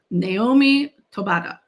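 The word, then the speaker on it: Noemí Taboada: Mexican Gothic, and what it depicts is the primary character, whose name is, and I looked up how to pronounce this, so Naomi Tobata.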